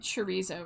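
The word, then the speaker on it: chorizo: It's the I mean, it's probably Is it the rolled R? Cuz I can't do that. It doesn't have a double R.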